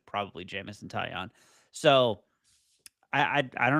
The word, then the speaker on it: Taillon: know how to say his last name, Taillon. Taillon. Jameson Taillon uh will be starting tomorrow. That is when we asked Judson who he expects to start tomorrow, he said probably Jameson Taillon.